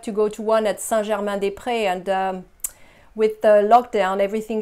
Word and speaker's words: Saint-Germain-des-Prés: The pronunciation for Saint-Germain-des-Prés. Saint-Germain, Germain is another nasal sound. Saint-Germain, Saint, Saint-Germain. You have two nasal sounds here, the same ones. Saint-Germain-des-Prés. Saint-Germain-des-Prés.